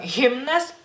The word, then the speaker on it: himnas: recuerden que en lituano la letra H no es un fantasmita, se tiene que pronunciar en la palabra que sea, en nombres o, bueno, alguna